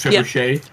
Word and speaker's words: trebuchet: example yeah that too the words trebuchet how it's spelt treble but it's pronounced triple shade yeah because i i